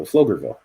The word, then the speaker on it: Pflugerville: got it Pflugerville right Pflugerville did I get it that way it is close to me p is silent good girl no so sorry no it sounds like an F so flugerville yeah can't type this